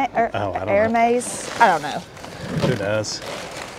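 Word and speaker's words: Hermès: purses heres Hermes no the H is silent right her air maze I don't know who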